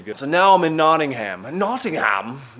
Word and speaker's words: Nottingham: So now I'm in Nottingham. Nottingham? It's actually a real place. And they got mad when I would say Nottingham. Nottingham. It's not, we're not walking around with a big ham. It's Nottingham.